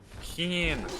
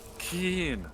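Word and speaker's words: Kyne: my armor Oh bah Keynes the Greybeards doll oh keen is how they say it I thought they held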